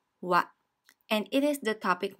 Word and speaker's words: は: This is the ha syllable, but since it is a particle, it is read as wa.